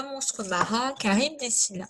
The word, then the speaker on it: Charybde: Mais par contre, on sait qu'ils vont devoir passer entre Charybde et Scylla, même si CH pour Charybde, on prononce que en grec, hein, c'est le qui.